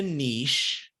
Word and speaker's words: niche: asked Steve Chandler says you don't need a niche because Niche rhymes with quiche and it should stay in France okay uh because generally